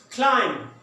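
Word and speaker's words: climb: Number 2 क्लाइम। क्लाइम बी को silent कर दें, यहाँ पे लेटर बी लिखने में आएगा, पढ़ने में नहीं आएगा।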